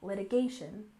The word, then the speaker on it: litigation: and next we have litigation with stress on the third syllable litigation litigation and this refers to